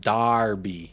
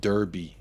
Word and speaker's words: Derby: yeah I think so it's pronounced Darby not Derby Darby everyone tells it